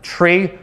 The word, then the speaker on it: trie: it into a search try also sometimes pronounced tree stands for retrieval so quick data structures